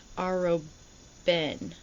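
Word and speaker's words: Arobynn: Aroin. Is it back here? I think I said it right. Aroen.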